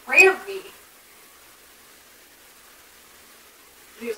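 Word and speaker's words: Rami: Remy Malek. Thank you. I just remember there was some interview thing, and in the little quotes, it was like, pronounced Rammy.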